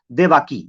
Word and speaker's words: देवकी: उसकी एक बीवी थी जिस बीवी का नाम था देवाकी, या देवकी उसे कह सकते हैं, ये देवकी कह सकते हैं, ये देवाकी कह सकते हैं, ऐसी तरह प्रोनाउंसिएशन है, देवाकी या देवकी।